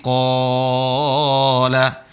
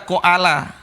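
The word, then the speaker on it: قال: Seperti kola. Gak boleh dibaca koala. Koala. Tapi dibaca apa? Kola.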